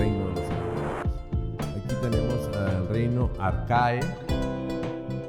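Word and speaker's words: Archaea: Aquí tenemos el reino arcae, no se pronuncia arcaea en latín, y en griego, cuando vean una EA, se pronuncia como E.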